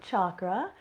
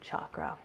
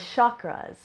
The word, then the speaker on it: chakra: wrong way anymore, as chakras, with a sh sound like this, but it's actually a hard ch sound to correctly pronounce it.